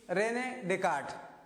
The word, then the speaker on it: René Descartes: Among them is René Descartes. See here the difference in the spelling and the pronunciation.